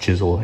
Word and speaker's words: Chiswell: was acquired by Charles chisel through a land grant and uh yeah it's pronounced chisel even though it looks like Chiswell but uh yeah original